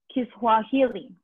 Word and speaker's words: Kiswahili: Kiswahili. So it's kind of like Swahili, but like Kiswahili.